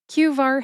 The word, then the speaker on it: QVAR: QVar has two syllables. That's Q like the letter in the alphabet Q and var, which rhymes with far.